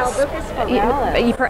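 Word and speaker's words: Albuca spiralis: How you pronounce it? Albucus pirellus.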